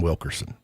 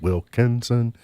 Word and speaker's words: Wilkinson: Wallace Wilkinson was our governor, but about 80% of Kentuckians called him Wilkerson. Governor Wilkerson. No, it's Wilkinson.